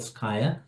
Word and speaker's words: Scaia: Then they fill out a form, and I offer them to get into the next level of what we call Sky, to rhyme with Scaia.